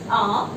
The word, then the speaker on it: hour: The pronunciation is R. H is silent over here.